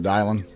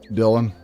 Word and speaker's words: Dylan: Dial Dylan almost got your name wrong.